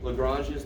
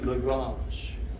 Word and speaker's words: Lagrange: with the prime you'll see the top that's lagrange's notation and that's how you pronounce joseph louis lagrange right if you want to americanize it lagrange